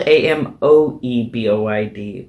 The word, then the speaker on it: amoeboid: Okay, this is spelled amoeboid, but I'm pretty sure it's pronounced amoeboid because amoeba is a word we know, right? And that's amoeba. So I think in this case, the OE is an E sound.